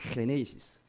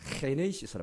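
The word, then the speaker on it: Γένεσις: 헤네이시스. G를 아주 거친 히읗으로 발음하거든요. 그래서 헤네이시스로 말합니다.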